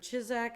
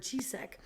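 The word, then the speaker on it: Ciszek: popularity and so i've heard his last name pronounced two ways it's the book by father walter chizzak and then i've heard chisek so one of those two and what's the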